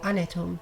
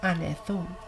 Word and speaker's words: anethum: They're saying anet or anethum, or anetum, not anethum.